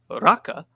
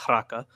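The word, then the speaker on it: Raca: But should he say to his brother Raka, or actually it should be pronounced Raka, he will be subject to the Sanhedrin.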